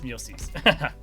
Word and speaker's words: Muelsyse: How do you pronounce your name? Muelsyse. Muelsyse. Okay, it is Muelsyse.